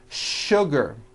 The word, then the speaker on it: sugar: What you may not know is that there are some words in English that are written with the letter S, but are pronounced with the SH sound. Words like sugar and sure.